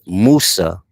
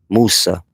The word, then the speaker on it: Musa: In in Islamic teachings, Musa is Moses. That's how they say his name, Musa.